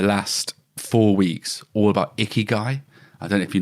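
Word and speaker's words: ikigai: And flow is um and icky is spelled I K I G A I. Icky guy.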